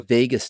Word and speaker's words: vagus: The vagus nerve. Like Vegas? Think of like Las Vegas. Las Vegas? It's spelled a little different, but vagus nerve, cranial nerve number 10.